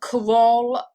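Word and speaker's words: Kerala: uh main browser uh karol i believe is the way that you pronounce it uh the place that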